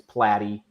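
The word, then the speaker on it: Platte: have known him for years and he always mispronounced my name a lot of people do it's platy and I started I started going with by my full name platty because it kind of flows and it Rhymes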